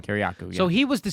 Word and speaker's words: Kiriakou: Kiriakou, yeah.